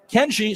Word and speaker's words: Kenyi: Kenji, spelled Kenyi, so that Y-I pronounced as a hard G.